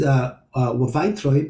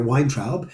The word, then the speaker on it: Weintraub: Troib, Troib, it means Weintraub is a grape. So in English, most commonly you hear Weintraub. In German, that would be pronounced Weintraub. In Yiddish, it's usually pronounced Weintraub or Weintraub.